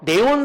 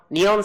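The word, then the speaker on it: neon: 알아들어 리스틀 그러면 알아들어 네온 사인 하면 못 알아들어 니온 사인 자동차 앞에 본닛 있잖아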